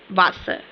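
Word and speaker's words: Wasser: वासर का मतलब होता है वाटर। ठीक है? अब आप सुन सकते हैं कि अ वासर है ये। ठीक है? वासर। ठीक है? आ वासर।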